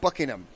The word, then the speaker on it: Buckingham: not it's Buckingham so we don't want to emphasize the ham on buing it's buckingam we had too much